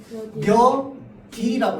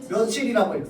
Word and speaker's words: 며칠: 자, 그러면 얘도 규칙에 따라서 뭐라고 읽어야 돼? 몇일이라고 읽어야 돼요. 자, 길 가는 사람 붙잡고 물어봅시다. 10명 중에 9명은 얘를 몇일이라고 안 읽고 뭐라고 읽을까요? 며칠이라고 읽습니다.